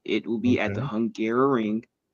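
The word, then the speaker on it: Hungaroring: don't know the name, it is called the Hungarrow Ring. It So it does sound like I was just mispronouncing Hungary trying to say it a second time.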